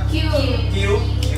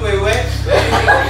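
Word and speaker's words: queue: ya, cara bacanya adalah Q, key, atau trian yang lebih simpel. Yang jelas bukan kue ataupun kue lapis.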